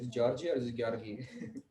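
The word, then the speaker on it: György: The English, the Anglo-Saxon pronunciation is George. Okay. But So- for our convenience, we could go with George. Okay, Yeah. George, but Yeah. it's GYO. Yeah. GYORGY is how it's Georgi.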